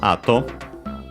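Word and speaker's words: 後: First and foremost, we have ato. We've seen it before because it means it's the one again that means it's accent on the first syllable.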